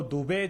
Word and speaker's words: दुबे: शहजाद पूनावाला जी अगर मुस्लिम हैं तो दुबे जो सरनेम होता है ना, वो 2 वेदों के ज्ञाता का होता है। मेरे धर्म का अपमान मत करो डुबे डुबे प्रोनाउंस करके, ये अधर्मी पाप मेरे धर्म के साथ मत करो।